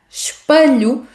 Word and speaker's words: espelho: Então, para pronunciar corretamente a palavra espelho, deve lembrar-se de que a letra E não é pronunciada.